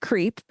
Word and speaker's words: CRP: Gordon Liddy, who was the finance counsel for the Committee for the Re-election of the President, also known as CRP, or pronounced CREEP, which is so fitting.